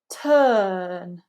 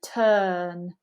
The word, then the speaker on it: turn: lips arise commit turn you can see that we're not pronouncing the UR unless it comes before a vowel phoneme we want it to be very lazy turn earn really neutral with that mouth then again we get